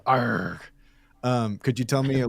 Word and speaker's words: ARRG: The proper way to pronounce it is in pirate speak. Okay, great. So you run a newly formed entity called ARRG.